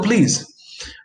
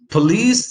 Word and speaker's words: police: and a lack but in connected speech that schwa which is in the first syllable might very easily disappear so you might say things like call the police uh and police sounds almost like please right that's it the